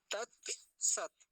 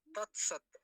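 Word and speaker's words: तत् सत्: तत् सत तत सत तत् सत में एक काम की बात है दो तक है और दोनों हलंत है तत सत ऐसा नहीं बोलेंगे त सत ऐसा बोलेंगे क्यों क्योंकि दोनों ततक आधे हैं त सत अगला शब्द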